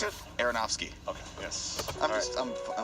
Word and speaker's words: Aronofsky: Darren I went to one Aronofsky.